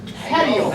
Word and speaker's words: petiole: Petiole.